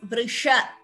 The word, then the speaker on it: वृष: Where as here it इज वृष. इट इज वी यूज more of the tongue for pronouncing brisha compared to sha. So please note that slight difference in pronunciation.